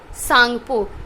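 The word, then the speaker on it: Tsangpo: बोलते ब्रह्मपुत्र रिवर को सांगपो यहां थी साइलेंट होता है कि फिर अ इन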